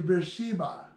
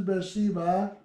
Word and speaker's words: Beersheba: Judah from Dan to Beersheba. So this is Beersheba in Hebrew.